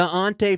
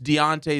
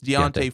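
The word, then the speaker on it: D'Onta: carries 118 yards wait did you say is it is it D apostrophe o-n-t-a yeah he played at Texas okay he was one of the um he was the running back that also Heisman potential so did I pronounce the right Dante yeah it's Deontay it's Deontay foreman and tuba Hubbard who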